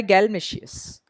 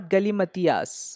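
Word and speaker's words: galimatias: Next word है बेटा हमारा नाउन है और इसका उच्चारण होता है गैलमेशियस। गैलमेशियस, नॉट गलीमतियास, बहुत से लोग इसको गलीमतियास बोलते हैं।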